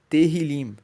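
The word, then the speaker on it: Tehillim: Por isso que o nome de dos salmos em hebraico é terilim. Se escreve t E h i l.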